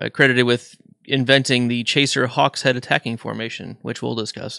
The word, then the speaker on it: Hawkshead: They're also credited with inventing the Chaser Hawkshead attacking formation, which we'll discuss in Chapter 10, potentially. Can I point out just pronunciation? I always read that as Hawkshed because that's just like Abby's Broad's word.